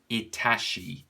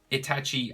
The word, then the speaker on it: Itachi: it's a running joke i always say itashi instead of itachi so there you go i said it right boom itachi and boo so he's